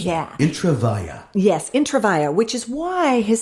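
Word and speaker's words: Intravaia: intraa I always wanted to know how to pronounce that intraa yes intravia which is why why his stage name is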